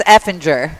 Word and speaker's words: Effinger: of your last name you said it right one time it's effinger okay I was kind